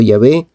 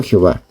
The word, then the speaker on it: Yahvé: están de acuerdo que la manera original y primitiva de pronunciar el nombre de Dios debía haber sido Yahvé y no Jehová.